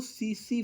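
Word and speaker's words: tsetse: किसी जानवर के खून में है तो उसको सीसी फ्लाई इसको 30 साइलेंट है जो की अगर एक भैंस को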